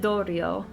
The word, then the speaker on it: Dorio: Okay, so she pronounces it Dorio. So Dorio, Himiko.